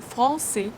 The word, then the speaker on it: français: You fully pronounce this sound, and only then you move to G sound. Langue. Le français, le.